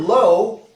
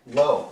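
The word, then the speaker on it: לא: In the word lo, it's a silent letter. And, sorry, lo, it's a silent letter. The Aleph is there to tell you that it's an O sound.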